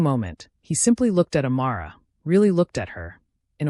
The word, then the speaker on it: Amara: "You're a long way from home, Amara Okafor." Something in the way he said her name made her skin prickle with awareness. He pronounced it correctly, with the emphasis on the second syllable, as if he'd taken